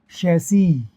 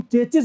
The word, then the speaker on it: chassis: शैसी।